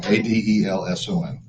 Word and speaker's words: Adelson: Okay, I, Adelson, and I gotta change this. Adelson. I know, I gotta change that. It's okay. It's Adelson. Actually, it's spelled right. I said it wrong. Adelson.